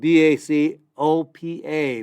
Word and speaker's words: Bacopa: It's spelled B-A-C-O-P-A, Bacopa.